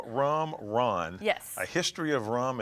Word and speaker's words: ron: The R-H-U-M, rum, is how you say it in French, and Okay. then Ron, R-O-N, is how you say it in Spanish.